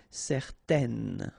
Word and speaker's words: certaine: Okay, so it's nasal in your nose, un. Okay, if you add this at the end, then it will change the thing, and then you will pronounce it n. Okay, so the masculine form, certain, the feminine form, certaine. Alright, so let's see them one more time.